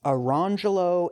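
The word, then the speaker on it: Orangejello: Or consider the twin boys Orange Jello and Lemon Jello, also black, whose parents further dignified their choice by instituting the pronunciations Arangelo and Lemangelo.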